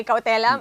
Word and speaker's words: cautelam: Una po sa lahat, tama ba ang pronunciation ng cautelam ay cautelam?